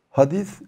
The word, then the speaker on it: hadis: müşteri olur level hadîs-i hadis söz demek hadis ilmi Türkçede pelte x olmadığından Seyre telaffuz ediliyor peygamberin hadisleri diyoruz peygamberin sözleri